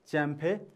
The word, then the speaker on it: Champe: And then middle name, C-H-A-M-P-E, Champe. Okay, you have to pronounce as Champe.